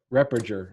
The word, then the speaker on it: Repperger: Repperger. Repperger. Okay. Repperger. Repperger. All right, I got you. Soft G, and the second two E's are pronounced like U's.